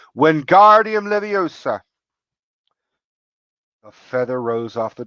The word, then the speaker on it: Wingardium Leviosa: Wingardium Leviosa! He shouted, waving his long arms like a windmill. You're saying it wrong, Harry heard Hermione snap. It's Wingardium Leviosa. Make the gar nice and long.